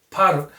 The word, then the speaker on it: potter: 오가 발음이 납니다. potter. 그래서 T까지 아예 좀 굴려오는 potter.